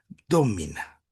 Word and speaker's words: domina: un primer momento, sino como la palabra domina, con el acento en la no de domina, domina.